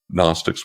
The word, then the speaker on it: Gnostics: And those were the so-called Christian Gnostics, Gnostics with a silent G.